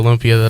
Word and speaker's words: lumpia: Lumpia.